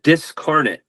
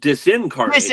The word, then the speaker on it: Disincarnate: You said Discarnate. And in actual fact, there is a band now called Discarnet. My band's called Disincarnate.